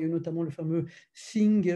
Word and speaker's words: Synge: Il y a eu notamment le fameux Synge, alors S-Y, NGE, alors c'est pas singe, hein, mais bon, vous